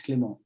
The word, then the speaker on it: Clement: They said, no, it's Clement. And funny enough, they can pronounce it.